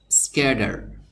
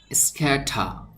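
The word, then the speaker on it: scatter: এভাবে উচ্চারণ করে থাকে স্ক্যাডার এই টি যে অক্ষর বা বর্ণটি এখানে আছে এই টি অক্ষর বা বর্ণ এর উচ্চারণ কখনো কখনো ড এর মত করে থাকে যাদের ভাষা ইংলিশ আবার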